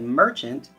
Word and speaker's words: merchant: Notice when I said merchant, I used a short A sound. Whenever I would read this word, I would change that sound to get meaning from the word, merchant.